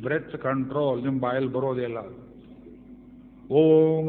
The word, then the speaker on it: ಓಂ: ಓಂ ಅಂತ ಹೇಳಿದ್ರೆ ಹೋಮ್ ಅಂತ ಹೇಳೋರು ಕೇಳಿದ್ದೀರಿ ನೀವು. ಓಂ ಅಂದರೆ ಠೋಮನೋ ಬರೋದಿಲ್ಲ ಅಂತ ಬೈತಾರೆ ನೋಡಿ ಪೂರ್ವಿಕರು.